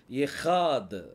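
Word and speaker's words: אחד: புள்ளி இல்ல அப்ப இது என்னது ட இந்த மூணையும் உச்சரிக்கும் போது எஹாத் அப்படின்னு சொல்லி சொல்லுவாங்க எஹாத் அப்படின்னா அதுக்கு அர்த்தம் ஒன்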